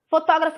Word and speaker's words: fotógrafo: Fotógrafo, fotógrafo, fotógrafo foi a sílaba tó.